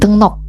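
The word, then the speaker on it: 등록: Wegugin dengnok. Ini dibacanya dengnok bukan dengrok karena di sini ada aturan bacinnya ya.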